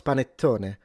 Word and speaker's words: panettone: No, it's panettone.